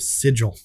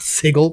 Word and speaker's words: Sigil: campaign so sorry it's the city of sigil not sigle sigle yeah but that was yeah so I looked that up last week and the um American yeah pronunciation is sigle UK is Sig isn't that is that